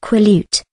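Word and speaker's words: Quileute: from her friend Jacob Black of the quo pronounced quut dribe and her own observations that Edward and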